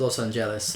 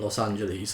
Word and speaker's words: Los Angeles: in Los Angeles yes I pronounce it Los Angeles like the Spanish do rather than Los Angeles like the English too so you know that's just how I say it it's a valid way of saying it so don't complain at me don't go out or you're saying it wrong whatever though it's it's a valid way to say it's helped this it's how it's pronounced in Spanish okay so they rented